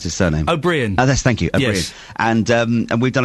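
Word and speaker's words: Ó Briain: Cox and dar I never know how to pronounce his surname aurien thank you aurien and um and we've done a story on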